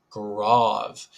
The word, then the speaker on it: Grave: one is of course grav it is not pronounced grave sadly um but you can